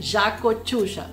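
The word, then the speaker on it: Yacochuya: engraçado o pronunciado porque o y aqui na Argentina tem som de J Jau malb excelente vinho malb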